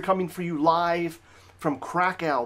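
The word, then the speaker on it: Kraków: for you live from Krakow Poland or crackle as it is cool colloquially pronounced and I'll give you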